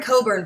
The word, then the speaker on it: Cockburn: do vote for him it's Darren Coburn but it's spelled COC kb u RN so make sure that